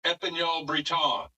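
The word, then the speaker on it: Épagneul Breton: It's uh it's the original Brittany breed from France and so it's it's pronounced Epanol Breton.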